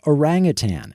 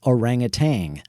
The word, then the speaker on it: orangutan: you might notice both he and Ashley mispronounced orangutan as orangutang we'll touch on some